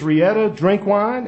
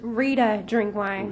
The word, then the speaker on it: Rita Drinkwine: tonight is uh miss rietta drink wine and i'm going to pronounce your name correctly if i mispronounced it what your name did i pronounce it correctly it's rita drinkwine rita drinkwine all right